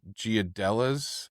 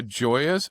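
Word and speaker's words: Gioia's: I go to uh I'm I'm going to mispronounce it. Giadelas uh the delicatessan up there. Joy. Joy. Joyazelli. Yeah. Let's fix that. I go to Mama's and I go to Joya's.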